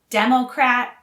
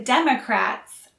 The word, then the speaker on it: democrat: are also related democracy democrat and democratic again the stress is on the first syllable for democrat and democratic and the stress is on the second syllable for democracy democracy democracy democracy